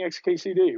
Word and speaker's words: xkcd: you will know xkcd the name of that apparently was created to be unpronounceable in any other way than saying xkcd right like that's yeah very